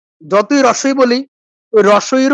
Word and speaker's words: হ্রস্ব ই: আমরা হ্রস্ব ই বলি না, দীর্ঘ ই বলি না। বলি কি? রস্যি দীর্ঘি। রস্যি দীর্ঘি বলতে কিছু হয় না। কি হয়? হ্রস্ব ই, দীর্ঘ ই।